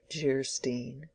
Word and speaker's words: Geierstein: "Anne of Geierstein," pronounced Jeerstein, or "The Maiden of the Mist," by the author of Waverley.